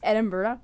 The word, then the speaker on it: Edinburgh: It's Edinburgh, or it's spelled Edinburgh, but pronounced Edinburgh.